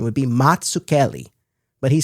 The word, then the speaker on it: Mazzucchelli: Now the Z's in his name are meant to be pronounced like the Z's in the word pizza. So the actual correct Italian pronunciation would be Matsucelli.